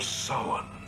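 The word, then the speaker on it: Samhain: traditions of halloween or as he correctly pronounces it the festival of summon good job cochran apparently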